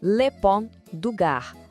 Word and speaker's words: Pont du Gard: Vamos lá na pronúncia. Le Pont du Gard, uma obra-prima da engenharia romana que, inacreditavelmente, ainda está de pé depois de 2000 anos, desafiando o tempo.